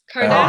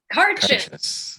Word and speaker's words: Carchus: How do we pronounce this one? Cardass? How do you pronounce it? Cardass? Carchus. Okay. Carchus. His ancestors are from Ireland and Germany. Carchus. There you go.